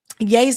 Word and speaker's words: Ye: It's pronounced yay.